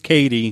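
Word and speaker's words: Cady: there a caddy here and she goes it's katie it's pronounced and he goes oh yeah that reminds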